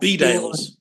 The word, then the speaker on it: Bedales: Is that how you pronounce that? Bedales.